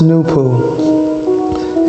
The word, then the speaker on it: Noopooh: this circle symbolizes the original and primary creator new pool pronounced new pool and the six in the bottom half emblem